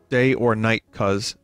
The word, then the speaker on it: Dionysus: Day or night, cuz. That's how you say it.